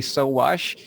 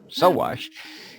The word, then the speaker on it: Sowash: Okay, hello, I'm Sowash, and just like the things you can do to clothes, you can sew them and wash them.